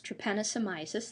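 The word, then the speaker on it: trypanosomiasis: should be immediately somewhat recognizable and that is to Pennisi mysis that's how you say it more commonly known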